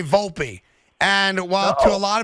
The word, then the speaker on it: Volpe: the kids last name which again is volpi Volpe yes and that's how I say it's how you say it it is not full pay full P maybe he's setting up